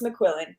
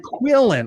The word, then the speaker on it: McQuillen: I can't remember now, but it's McQuillen. You have it. You got it. McQuillen.